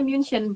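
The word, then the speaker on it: München: benar bar m ya dan di Jerman itu biasanyaebutnya munion bukan munih kalau munih kan dari luar Jerman tuh dan kitaendnya apa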